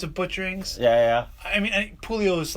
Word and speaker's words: Puleo: You know, man, I do either or what have you. Puleo is the Italian way to say it.